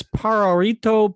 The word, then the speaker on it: Pajarito: briefed before the show on the how to pronounce the name of the company it's pararito powder very good that's the important important first